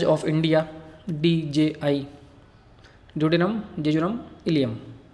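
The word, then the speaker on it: ileum: Spelling से confuse मत होना, ये कैपिटल आई और स्मॉल एल है और EUM, इलियम।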